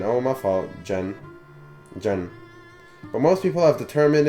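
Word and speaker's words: Xen: your name is Zen it's pronounced more like Jen than Zen oh my fault Jen Jen but most people have determined it to mispronounce your name since elementary school I'll join them Zen so at some point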